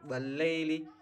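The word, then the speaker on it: وَاللَّيْل: Nah, kemudian ini juga lai lam harakat fathah bertemu dengan ya sukun. Ini bacaan lain atau lemas. Enggak boleh dibaca le wallaili tapi wallai wallaili ya.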